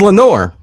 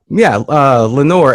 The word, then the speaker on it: Lenore: It was Lenore. God, you're actually dead on. You're 100% right, by the way. Yeah. Because Eleanor, I know, is chamber door. It rhymes with chamber door. Yeah, Lenore.